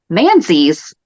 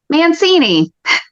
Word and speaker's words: Manzi: One, and you're going to have to back me up on this one, I mispronounced Kate Manzi's last name as Mancini.